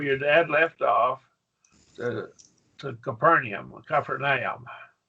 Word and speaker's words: Capernaum: Kaparan, Capernaum. See, ah sounds Capernaum. So there are your three syllables.